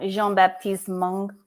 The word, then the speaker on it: Jean-Baptiste Monge: Jean-Baptiste Mongo. That's exactly right. How did you know that? It's Mongo. You have to like sing it at the end.